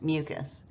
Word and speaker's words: mucous: also very important because they do sound the same mucus and mucus mucus I mean that's how you can say it in your head is mucus and mucus but they're really both pronounced mucus isn't that wonderful so